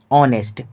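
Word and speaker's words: honest: देखिए जो ऑनेस्ट है ऑनेस्ट इसका उच्चारण होता है तो ऑनेस्ट ऐसे करके होता है।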